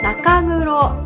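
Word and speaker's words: 中黒: そしてこれ、正式には中黒と言います。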